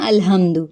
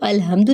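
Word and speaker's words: الْحَمْدُ: उसको लाइट पढ़ते हैं अलहम्दु। तो अलहम्दु नहीं पढ़ेंगे, पढ़ेंगे अलहम्दु। अब दू को लंबा नहीं करेंगे, अलहम्दो नहीं पढ़ेंगे, मजहूल नहीं करेंगे, दू पढ़ेंगे।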